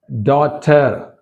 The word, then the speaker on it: daughter: Daughter, daughter. అంతేగాని ఇక్కడ GH sound రాదు ఇక్కడ. Naughty, naughty, caught, caught, brought, brought, bought, bought, night, night, taught, haughty, right? In these all the words, GH letter is silent.